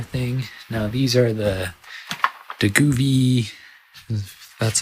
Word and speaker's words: Govee: Now these are the Govee, that's how you say it, Govee RGB Basics.